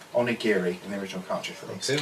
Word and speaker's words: onigiri: to look at my book there to actually pronounce that right onigiri and original country feelings it was up and